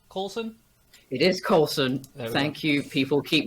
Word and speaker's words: Coulson: i'm here today with courtney coulson is it colton coulson it is colson thank you people keep mispronouncing it but it's in the marvel movies